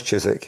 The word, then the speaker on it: Chiswick: okay okay so you know it's wouldn't you Chizik yes pronounce Chyzyk n yes all right it says you attended